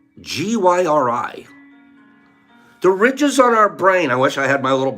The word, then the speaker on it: gyri: is covered with ridges these ridges are called gyri g-y-r-i the ridges on our brain I wish I